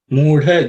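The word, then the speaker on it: मूढ: In the first word, mudha, the second letter, dha, is the fourth letter in the ta varga or ta class of sounds.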